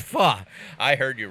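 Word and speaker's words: phở: It's pronounced it's pronounced pho. I heard you wrong. It's pronounced pho.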